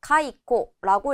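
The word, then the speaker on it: 懐古: 회고하다 할 때 회고 고라는 발음이 왔기 때문에 짧게 코 읽어서 가이코라고 읽어 주시면 되고요.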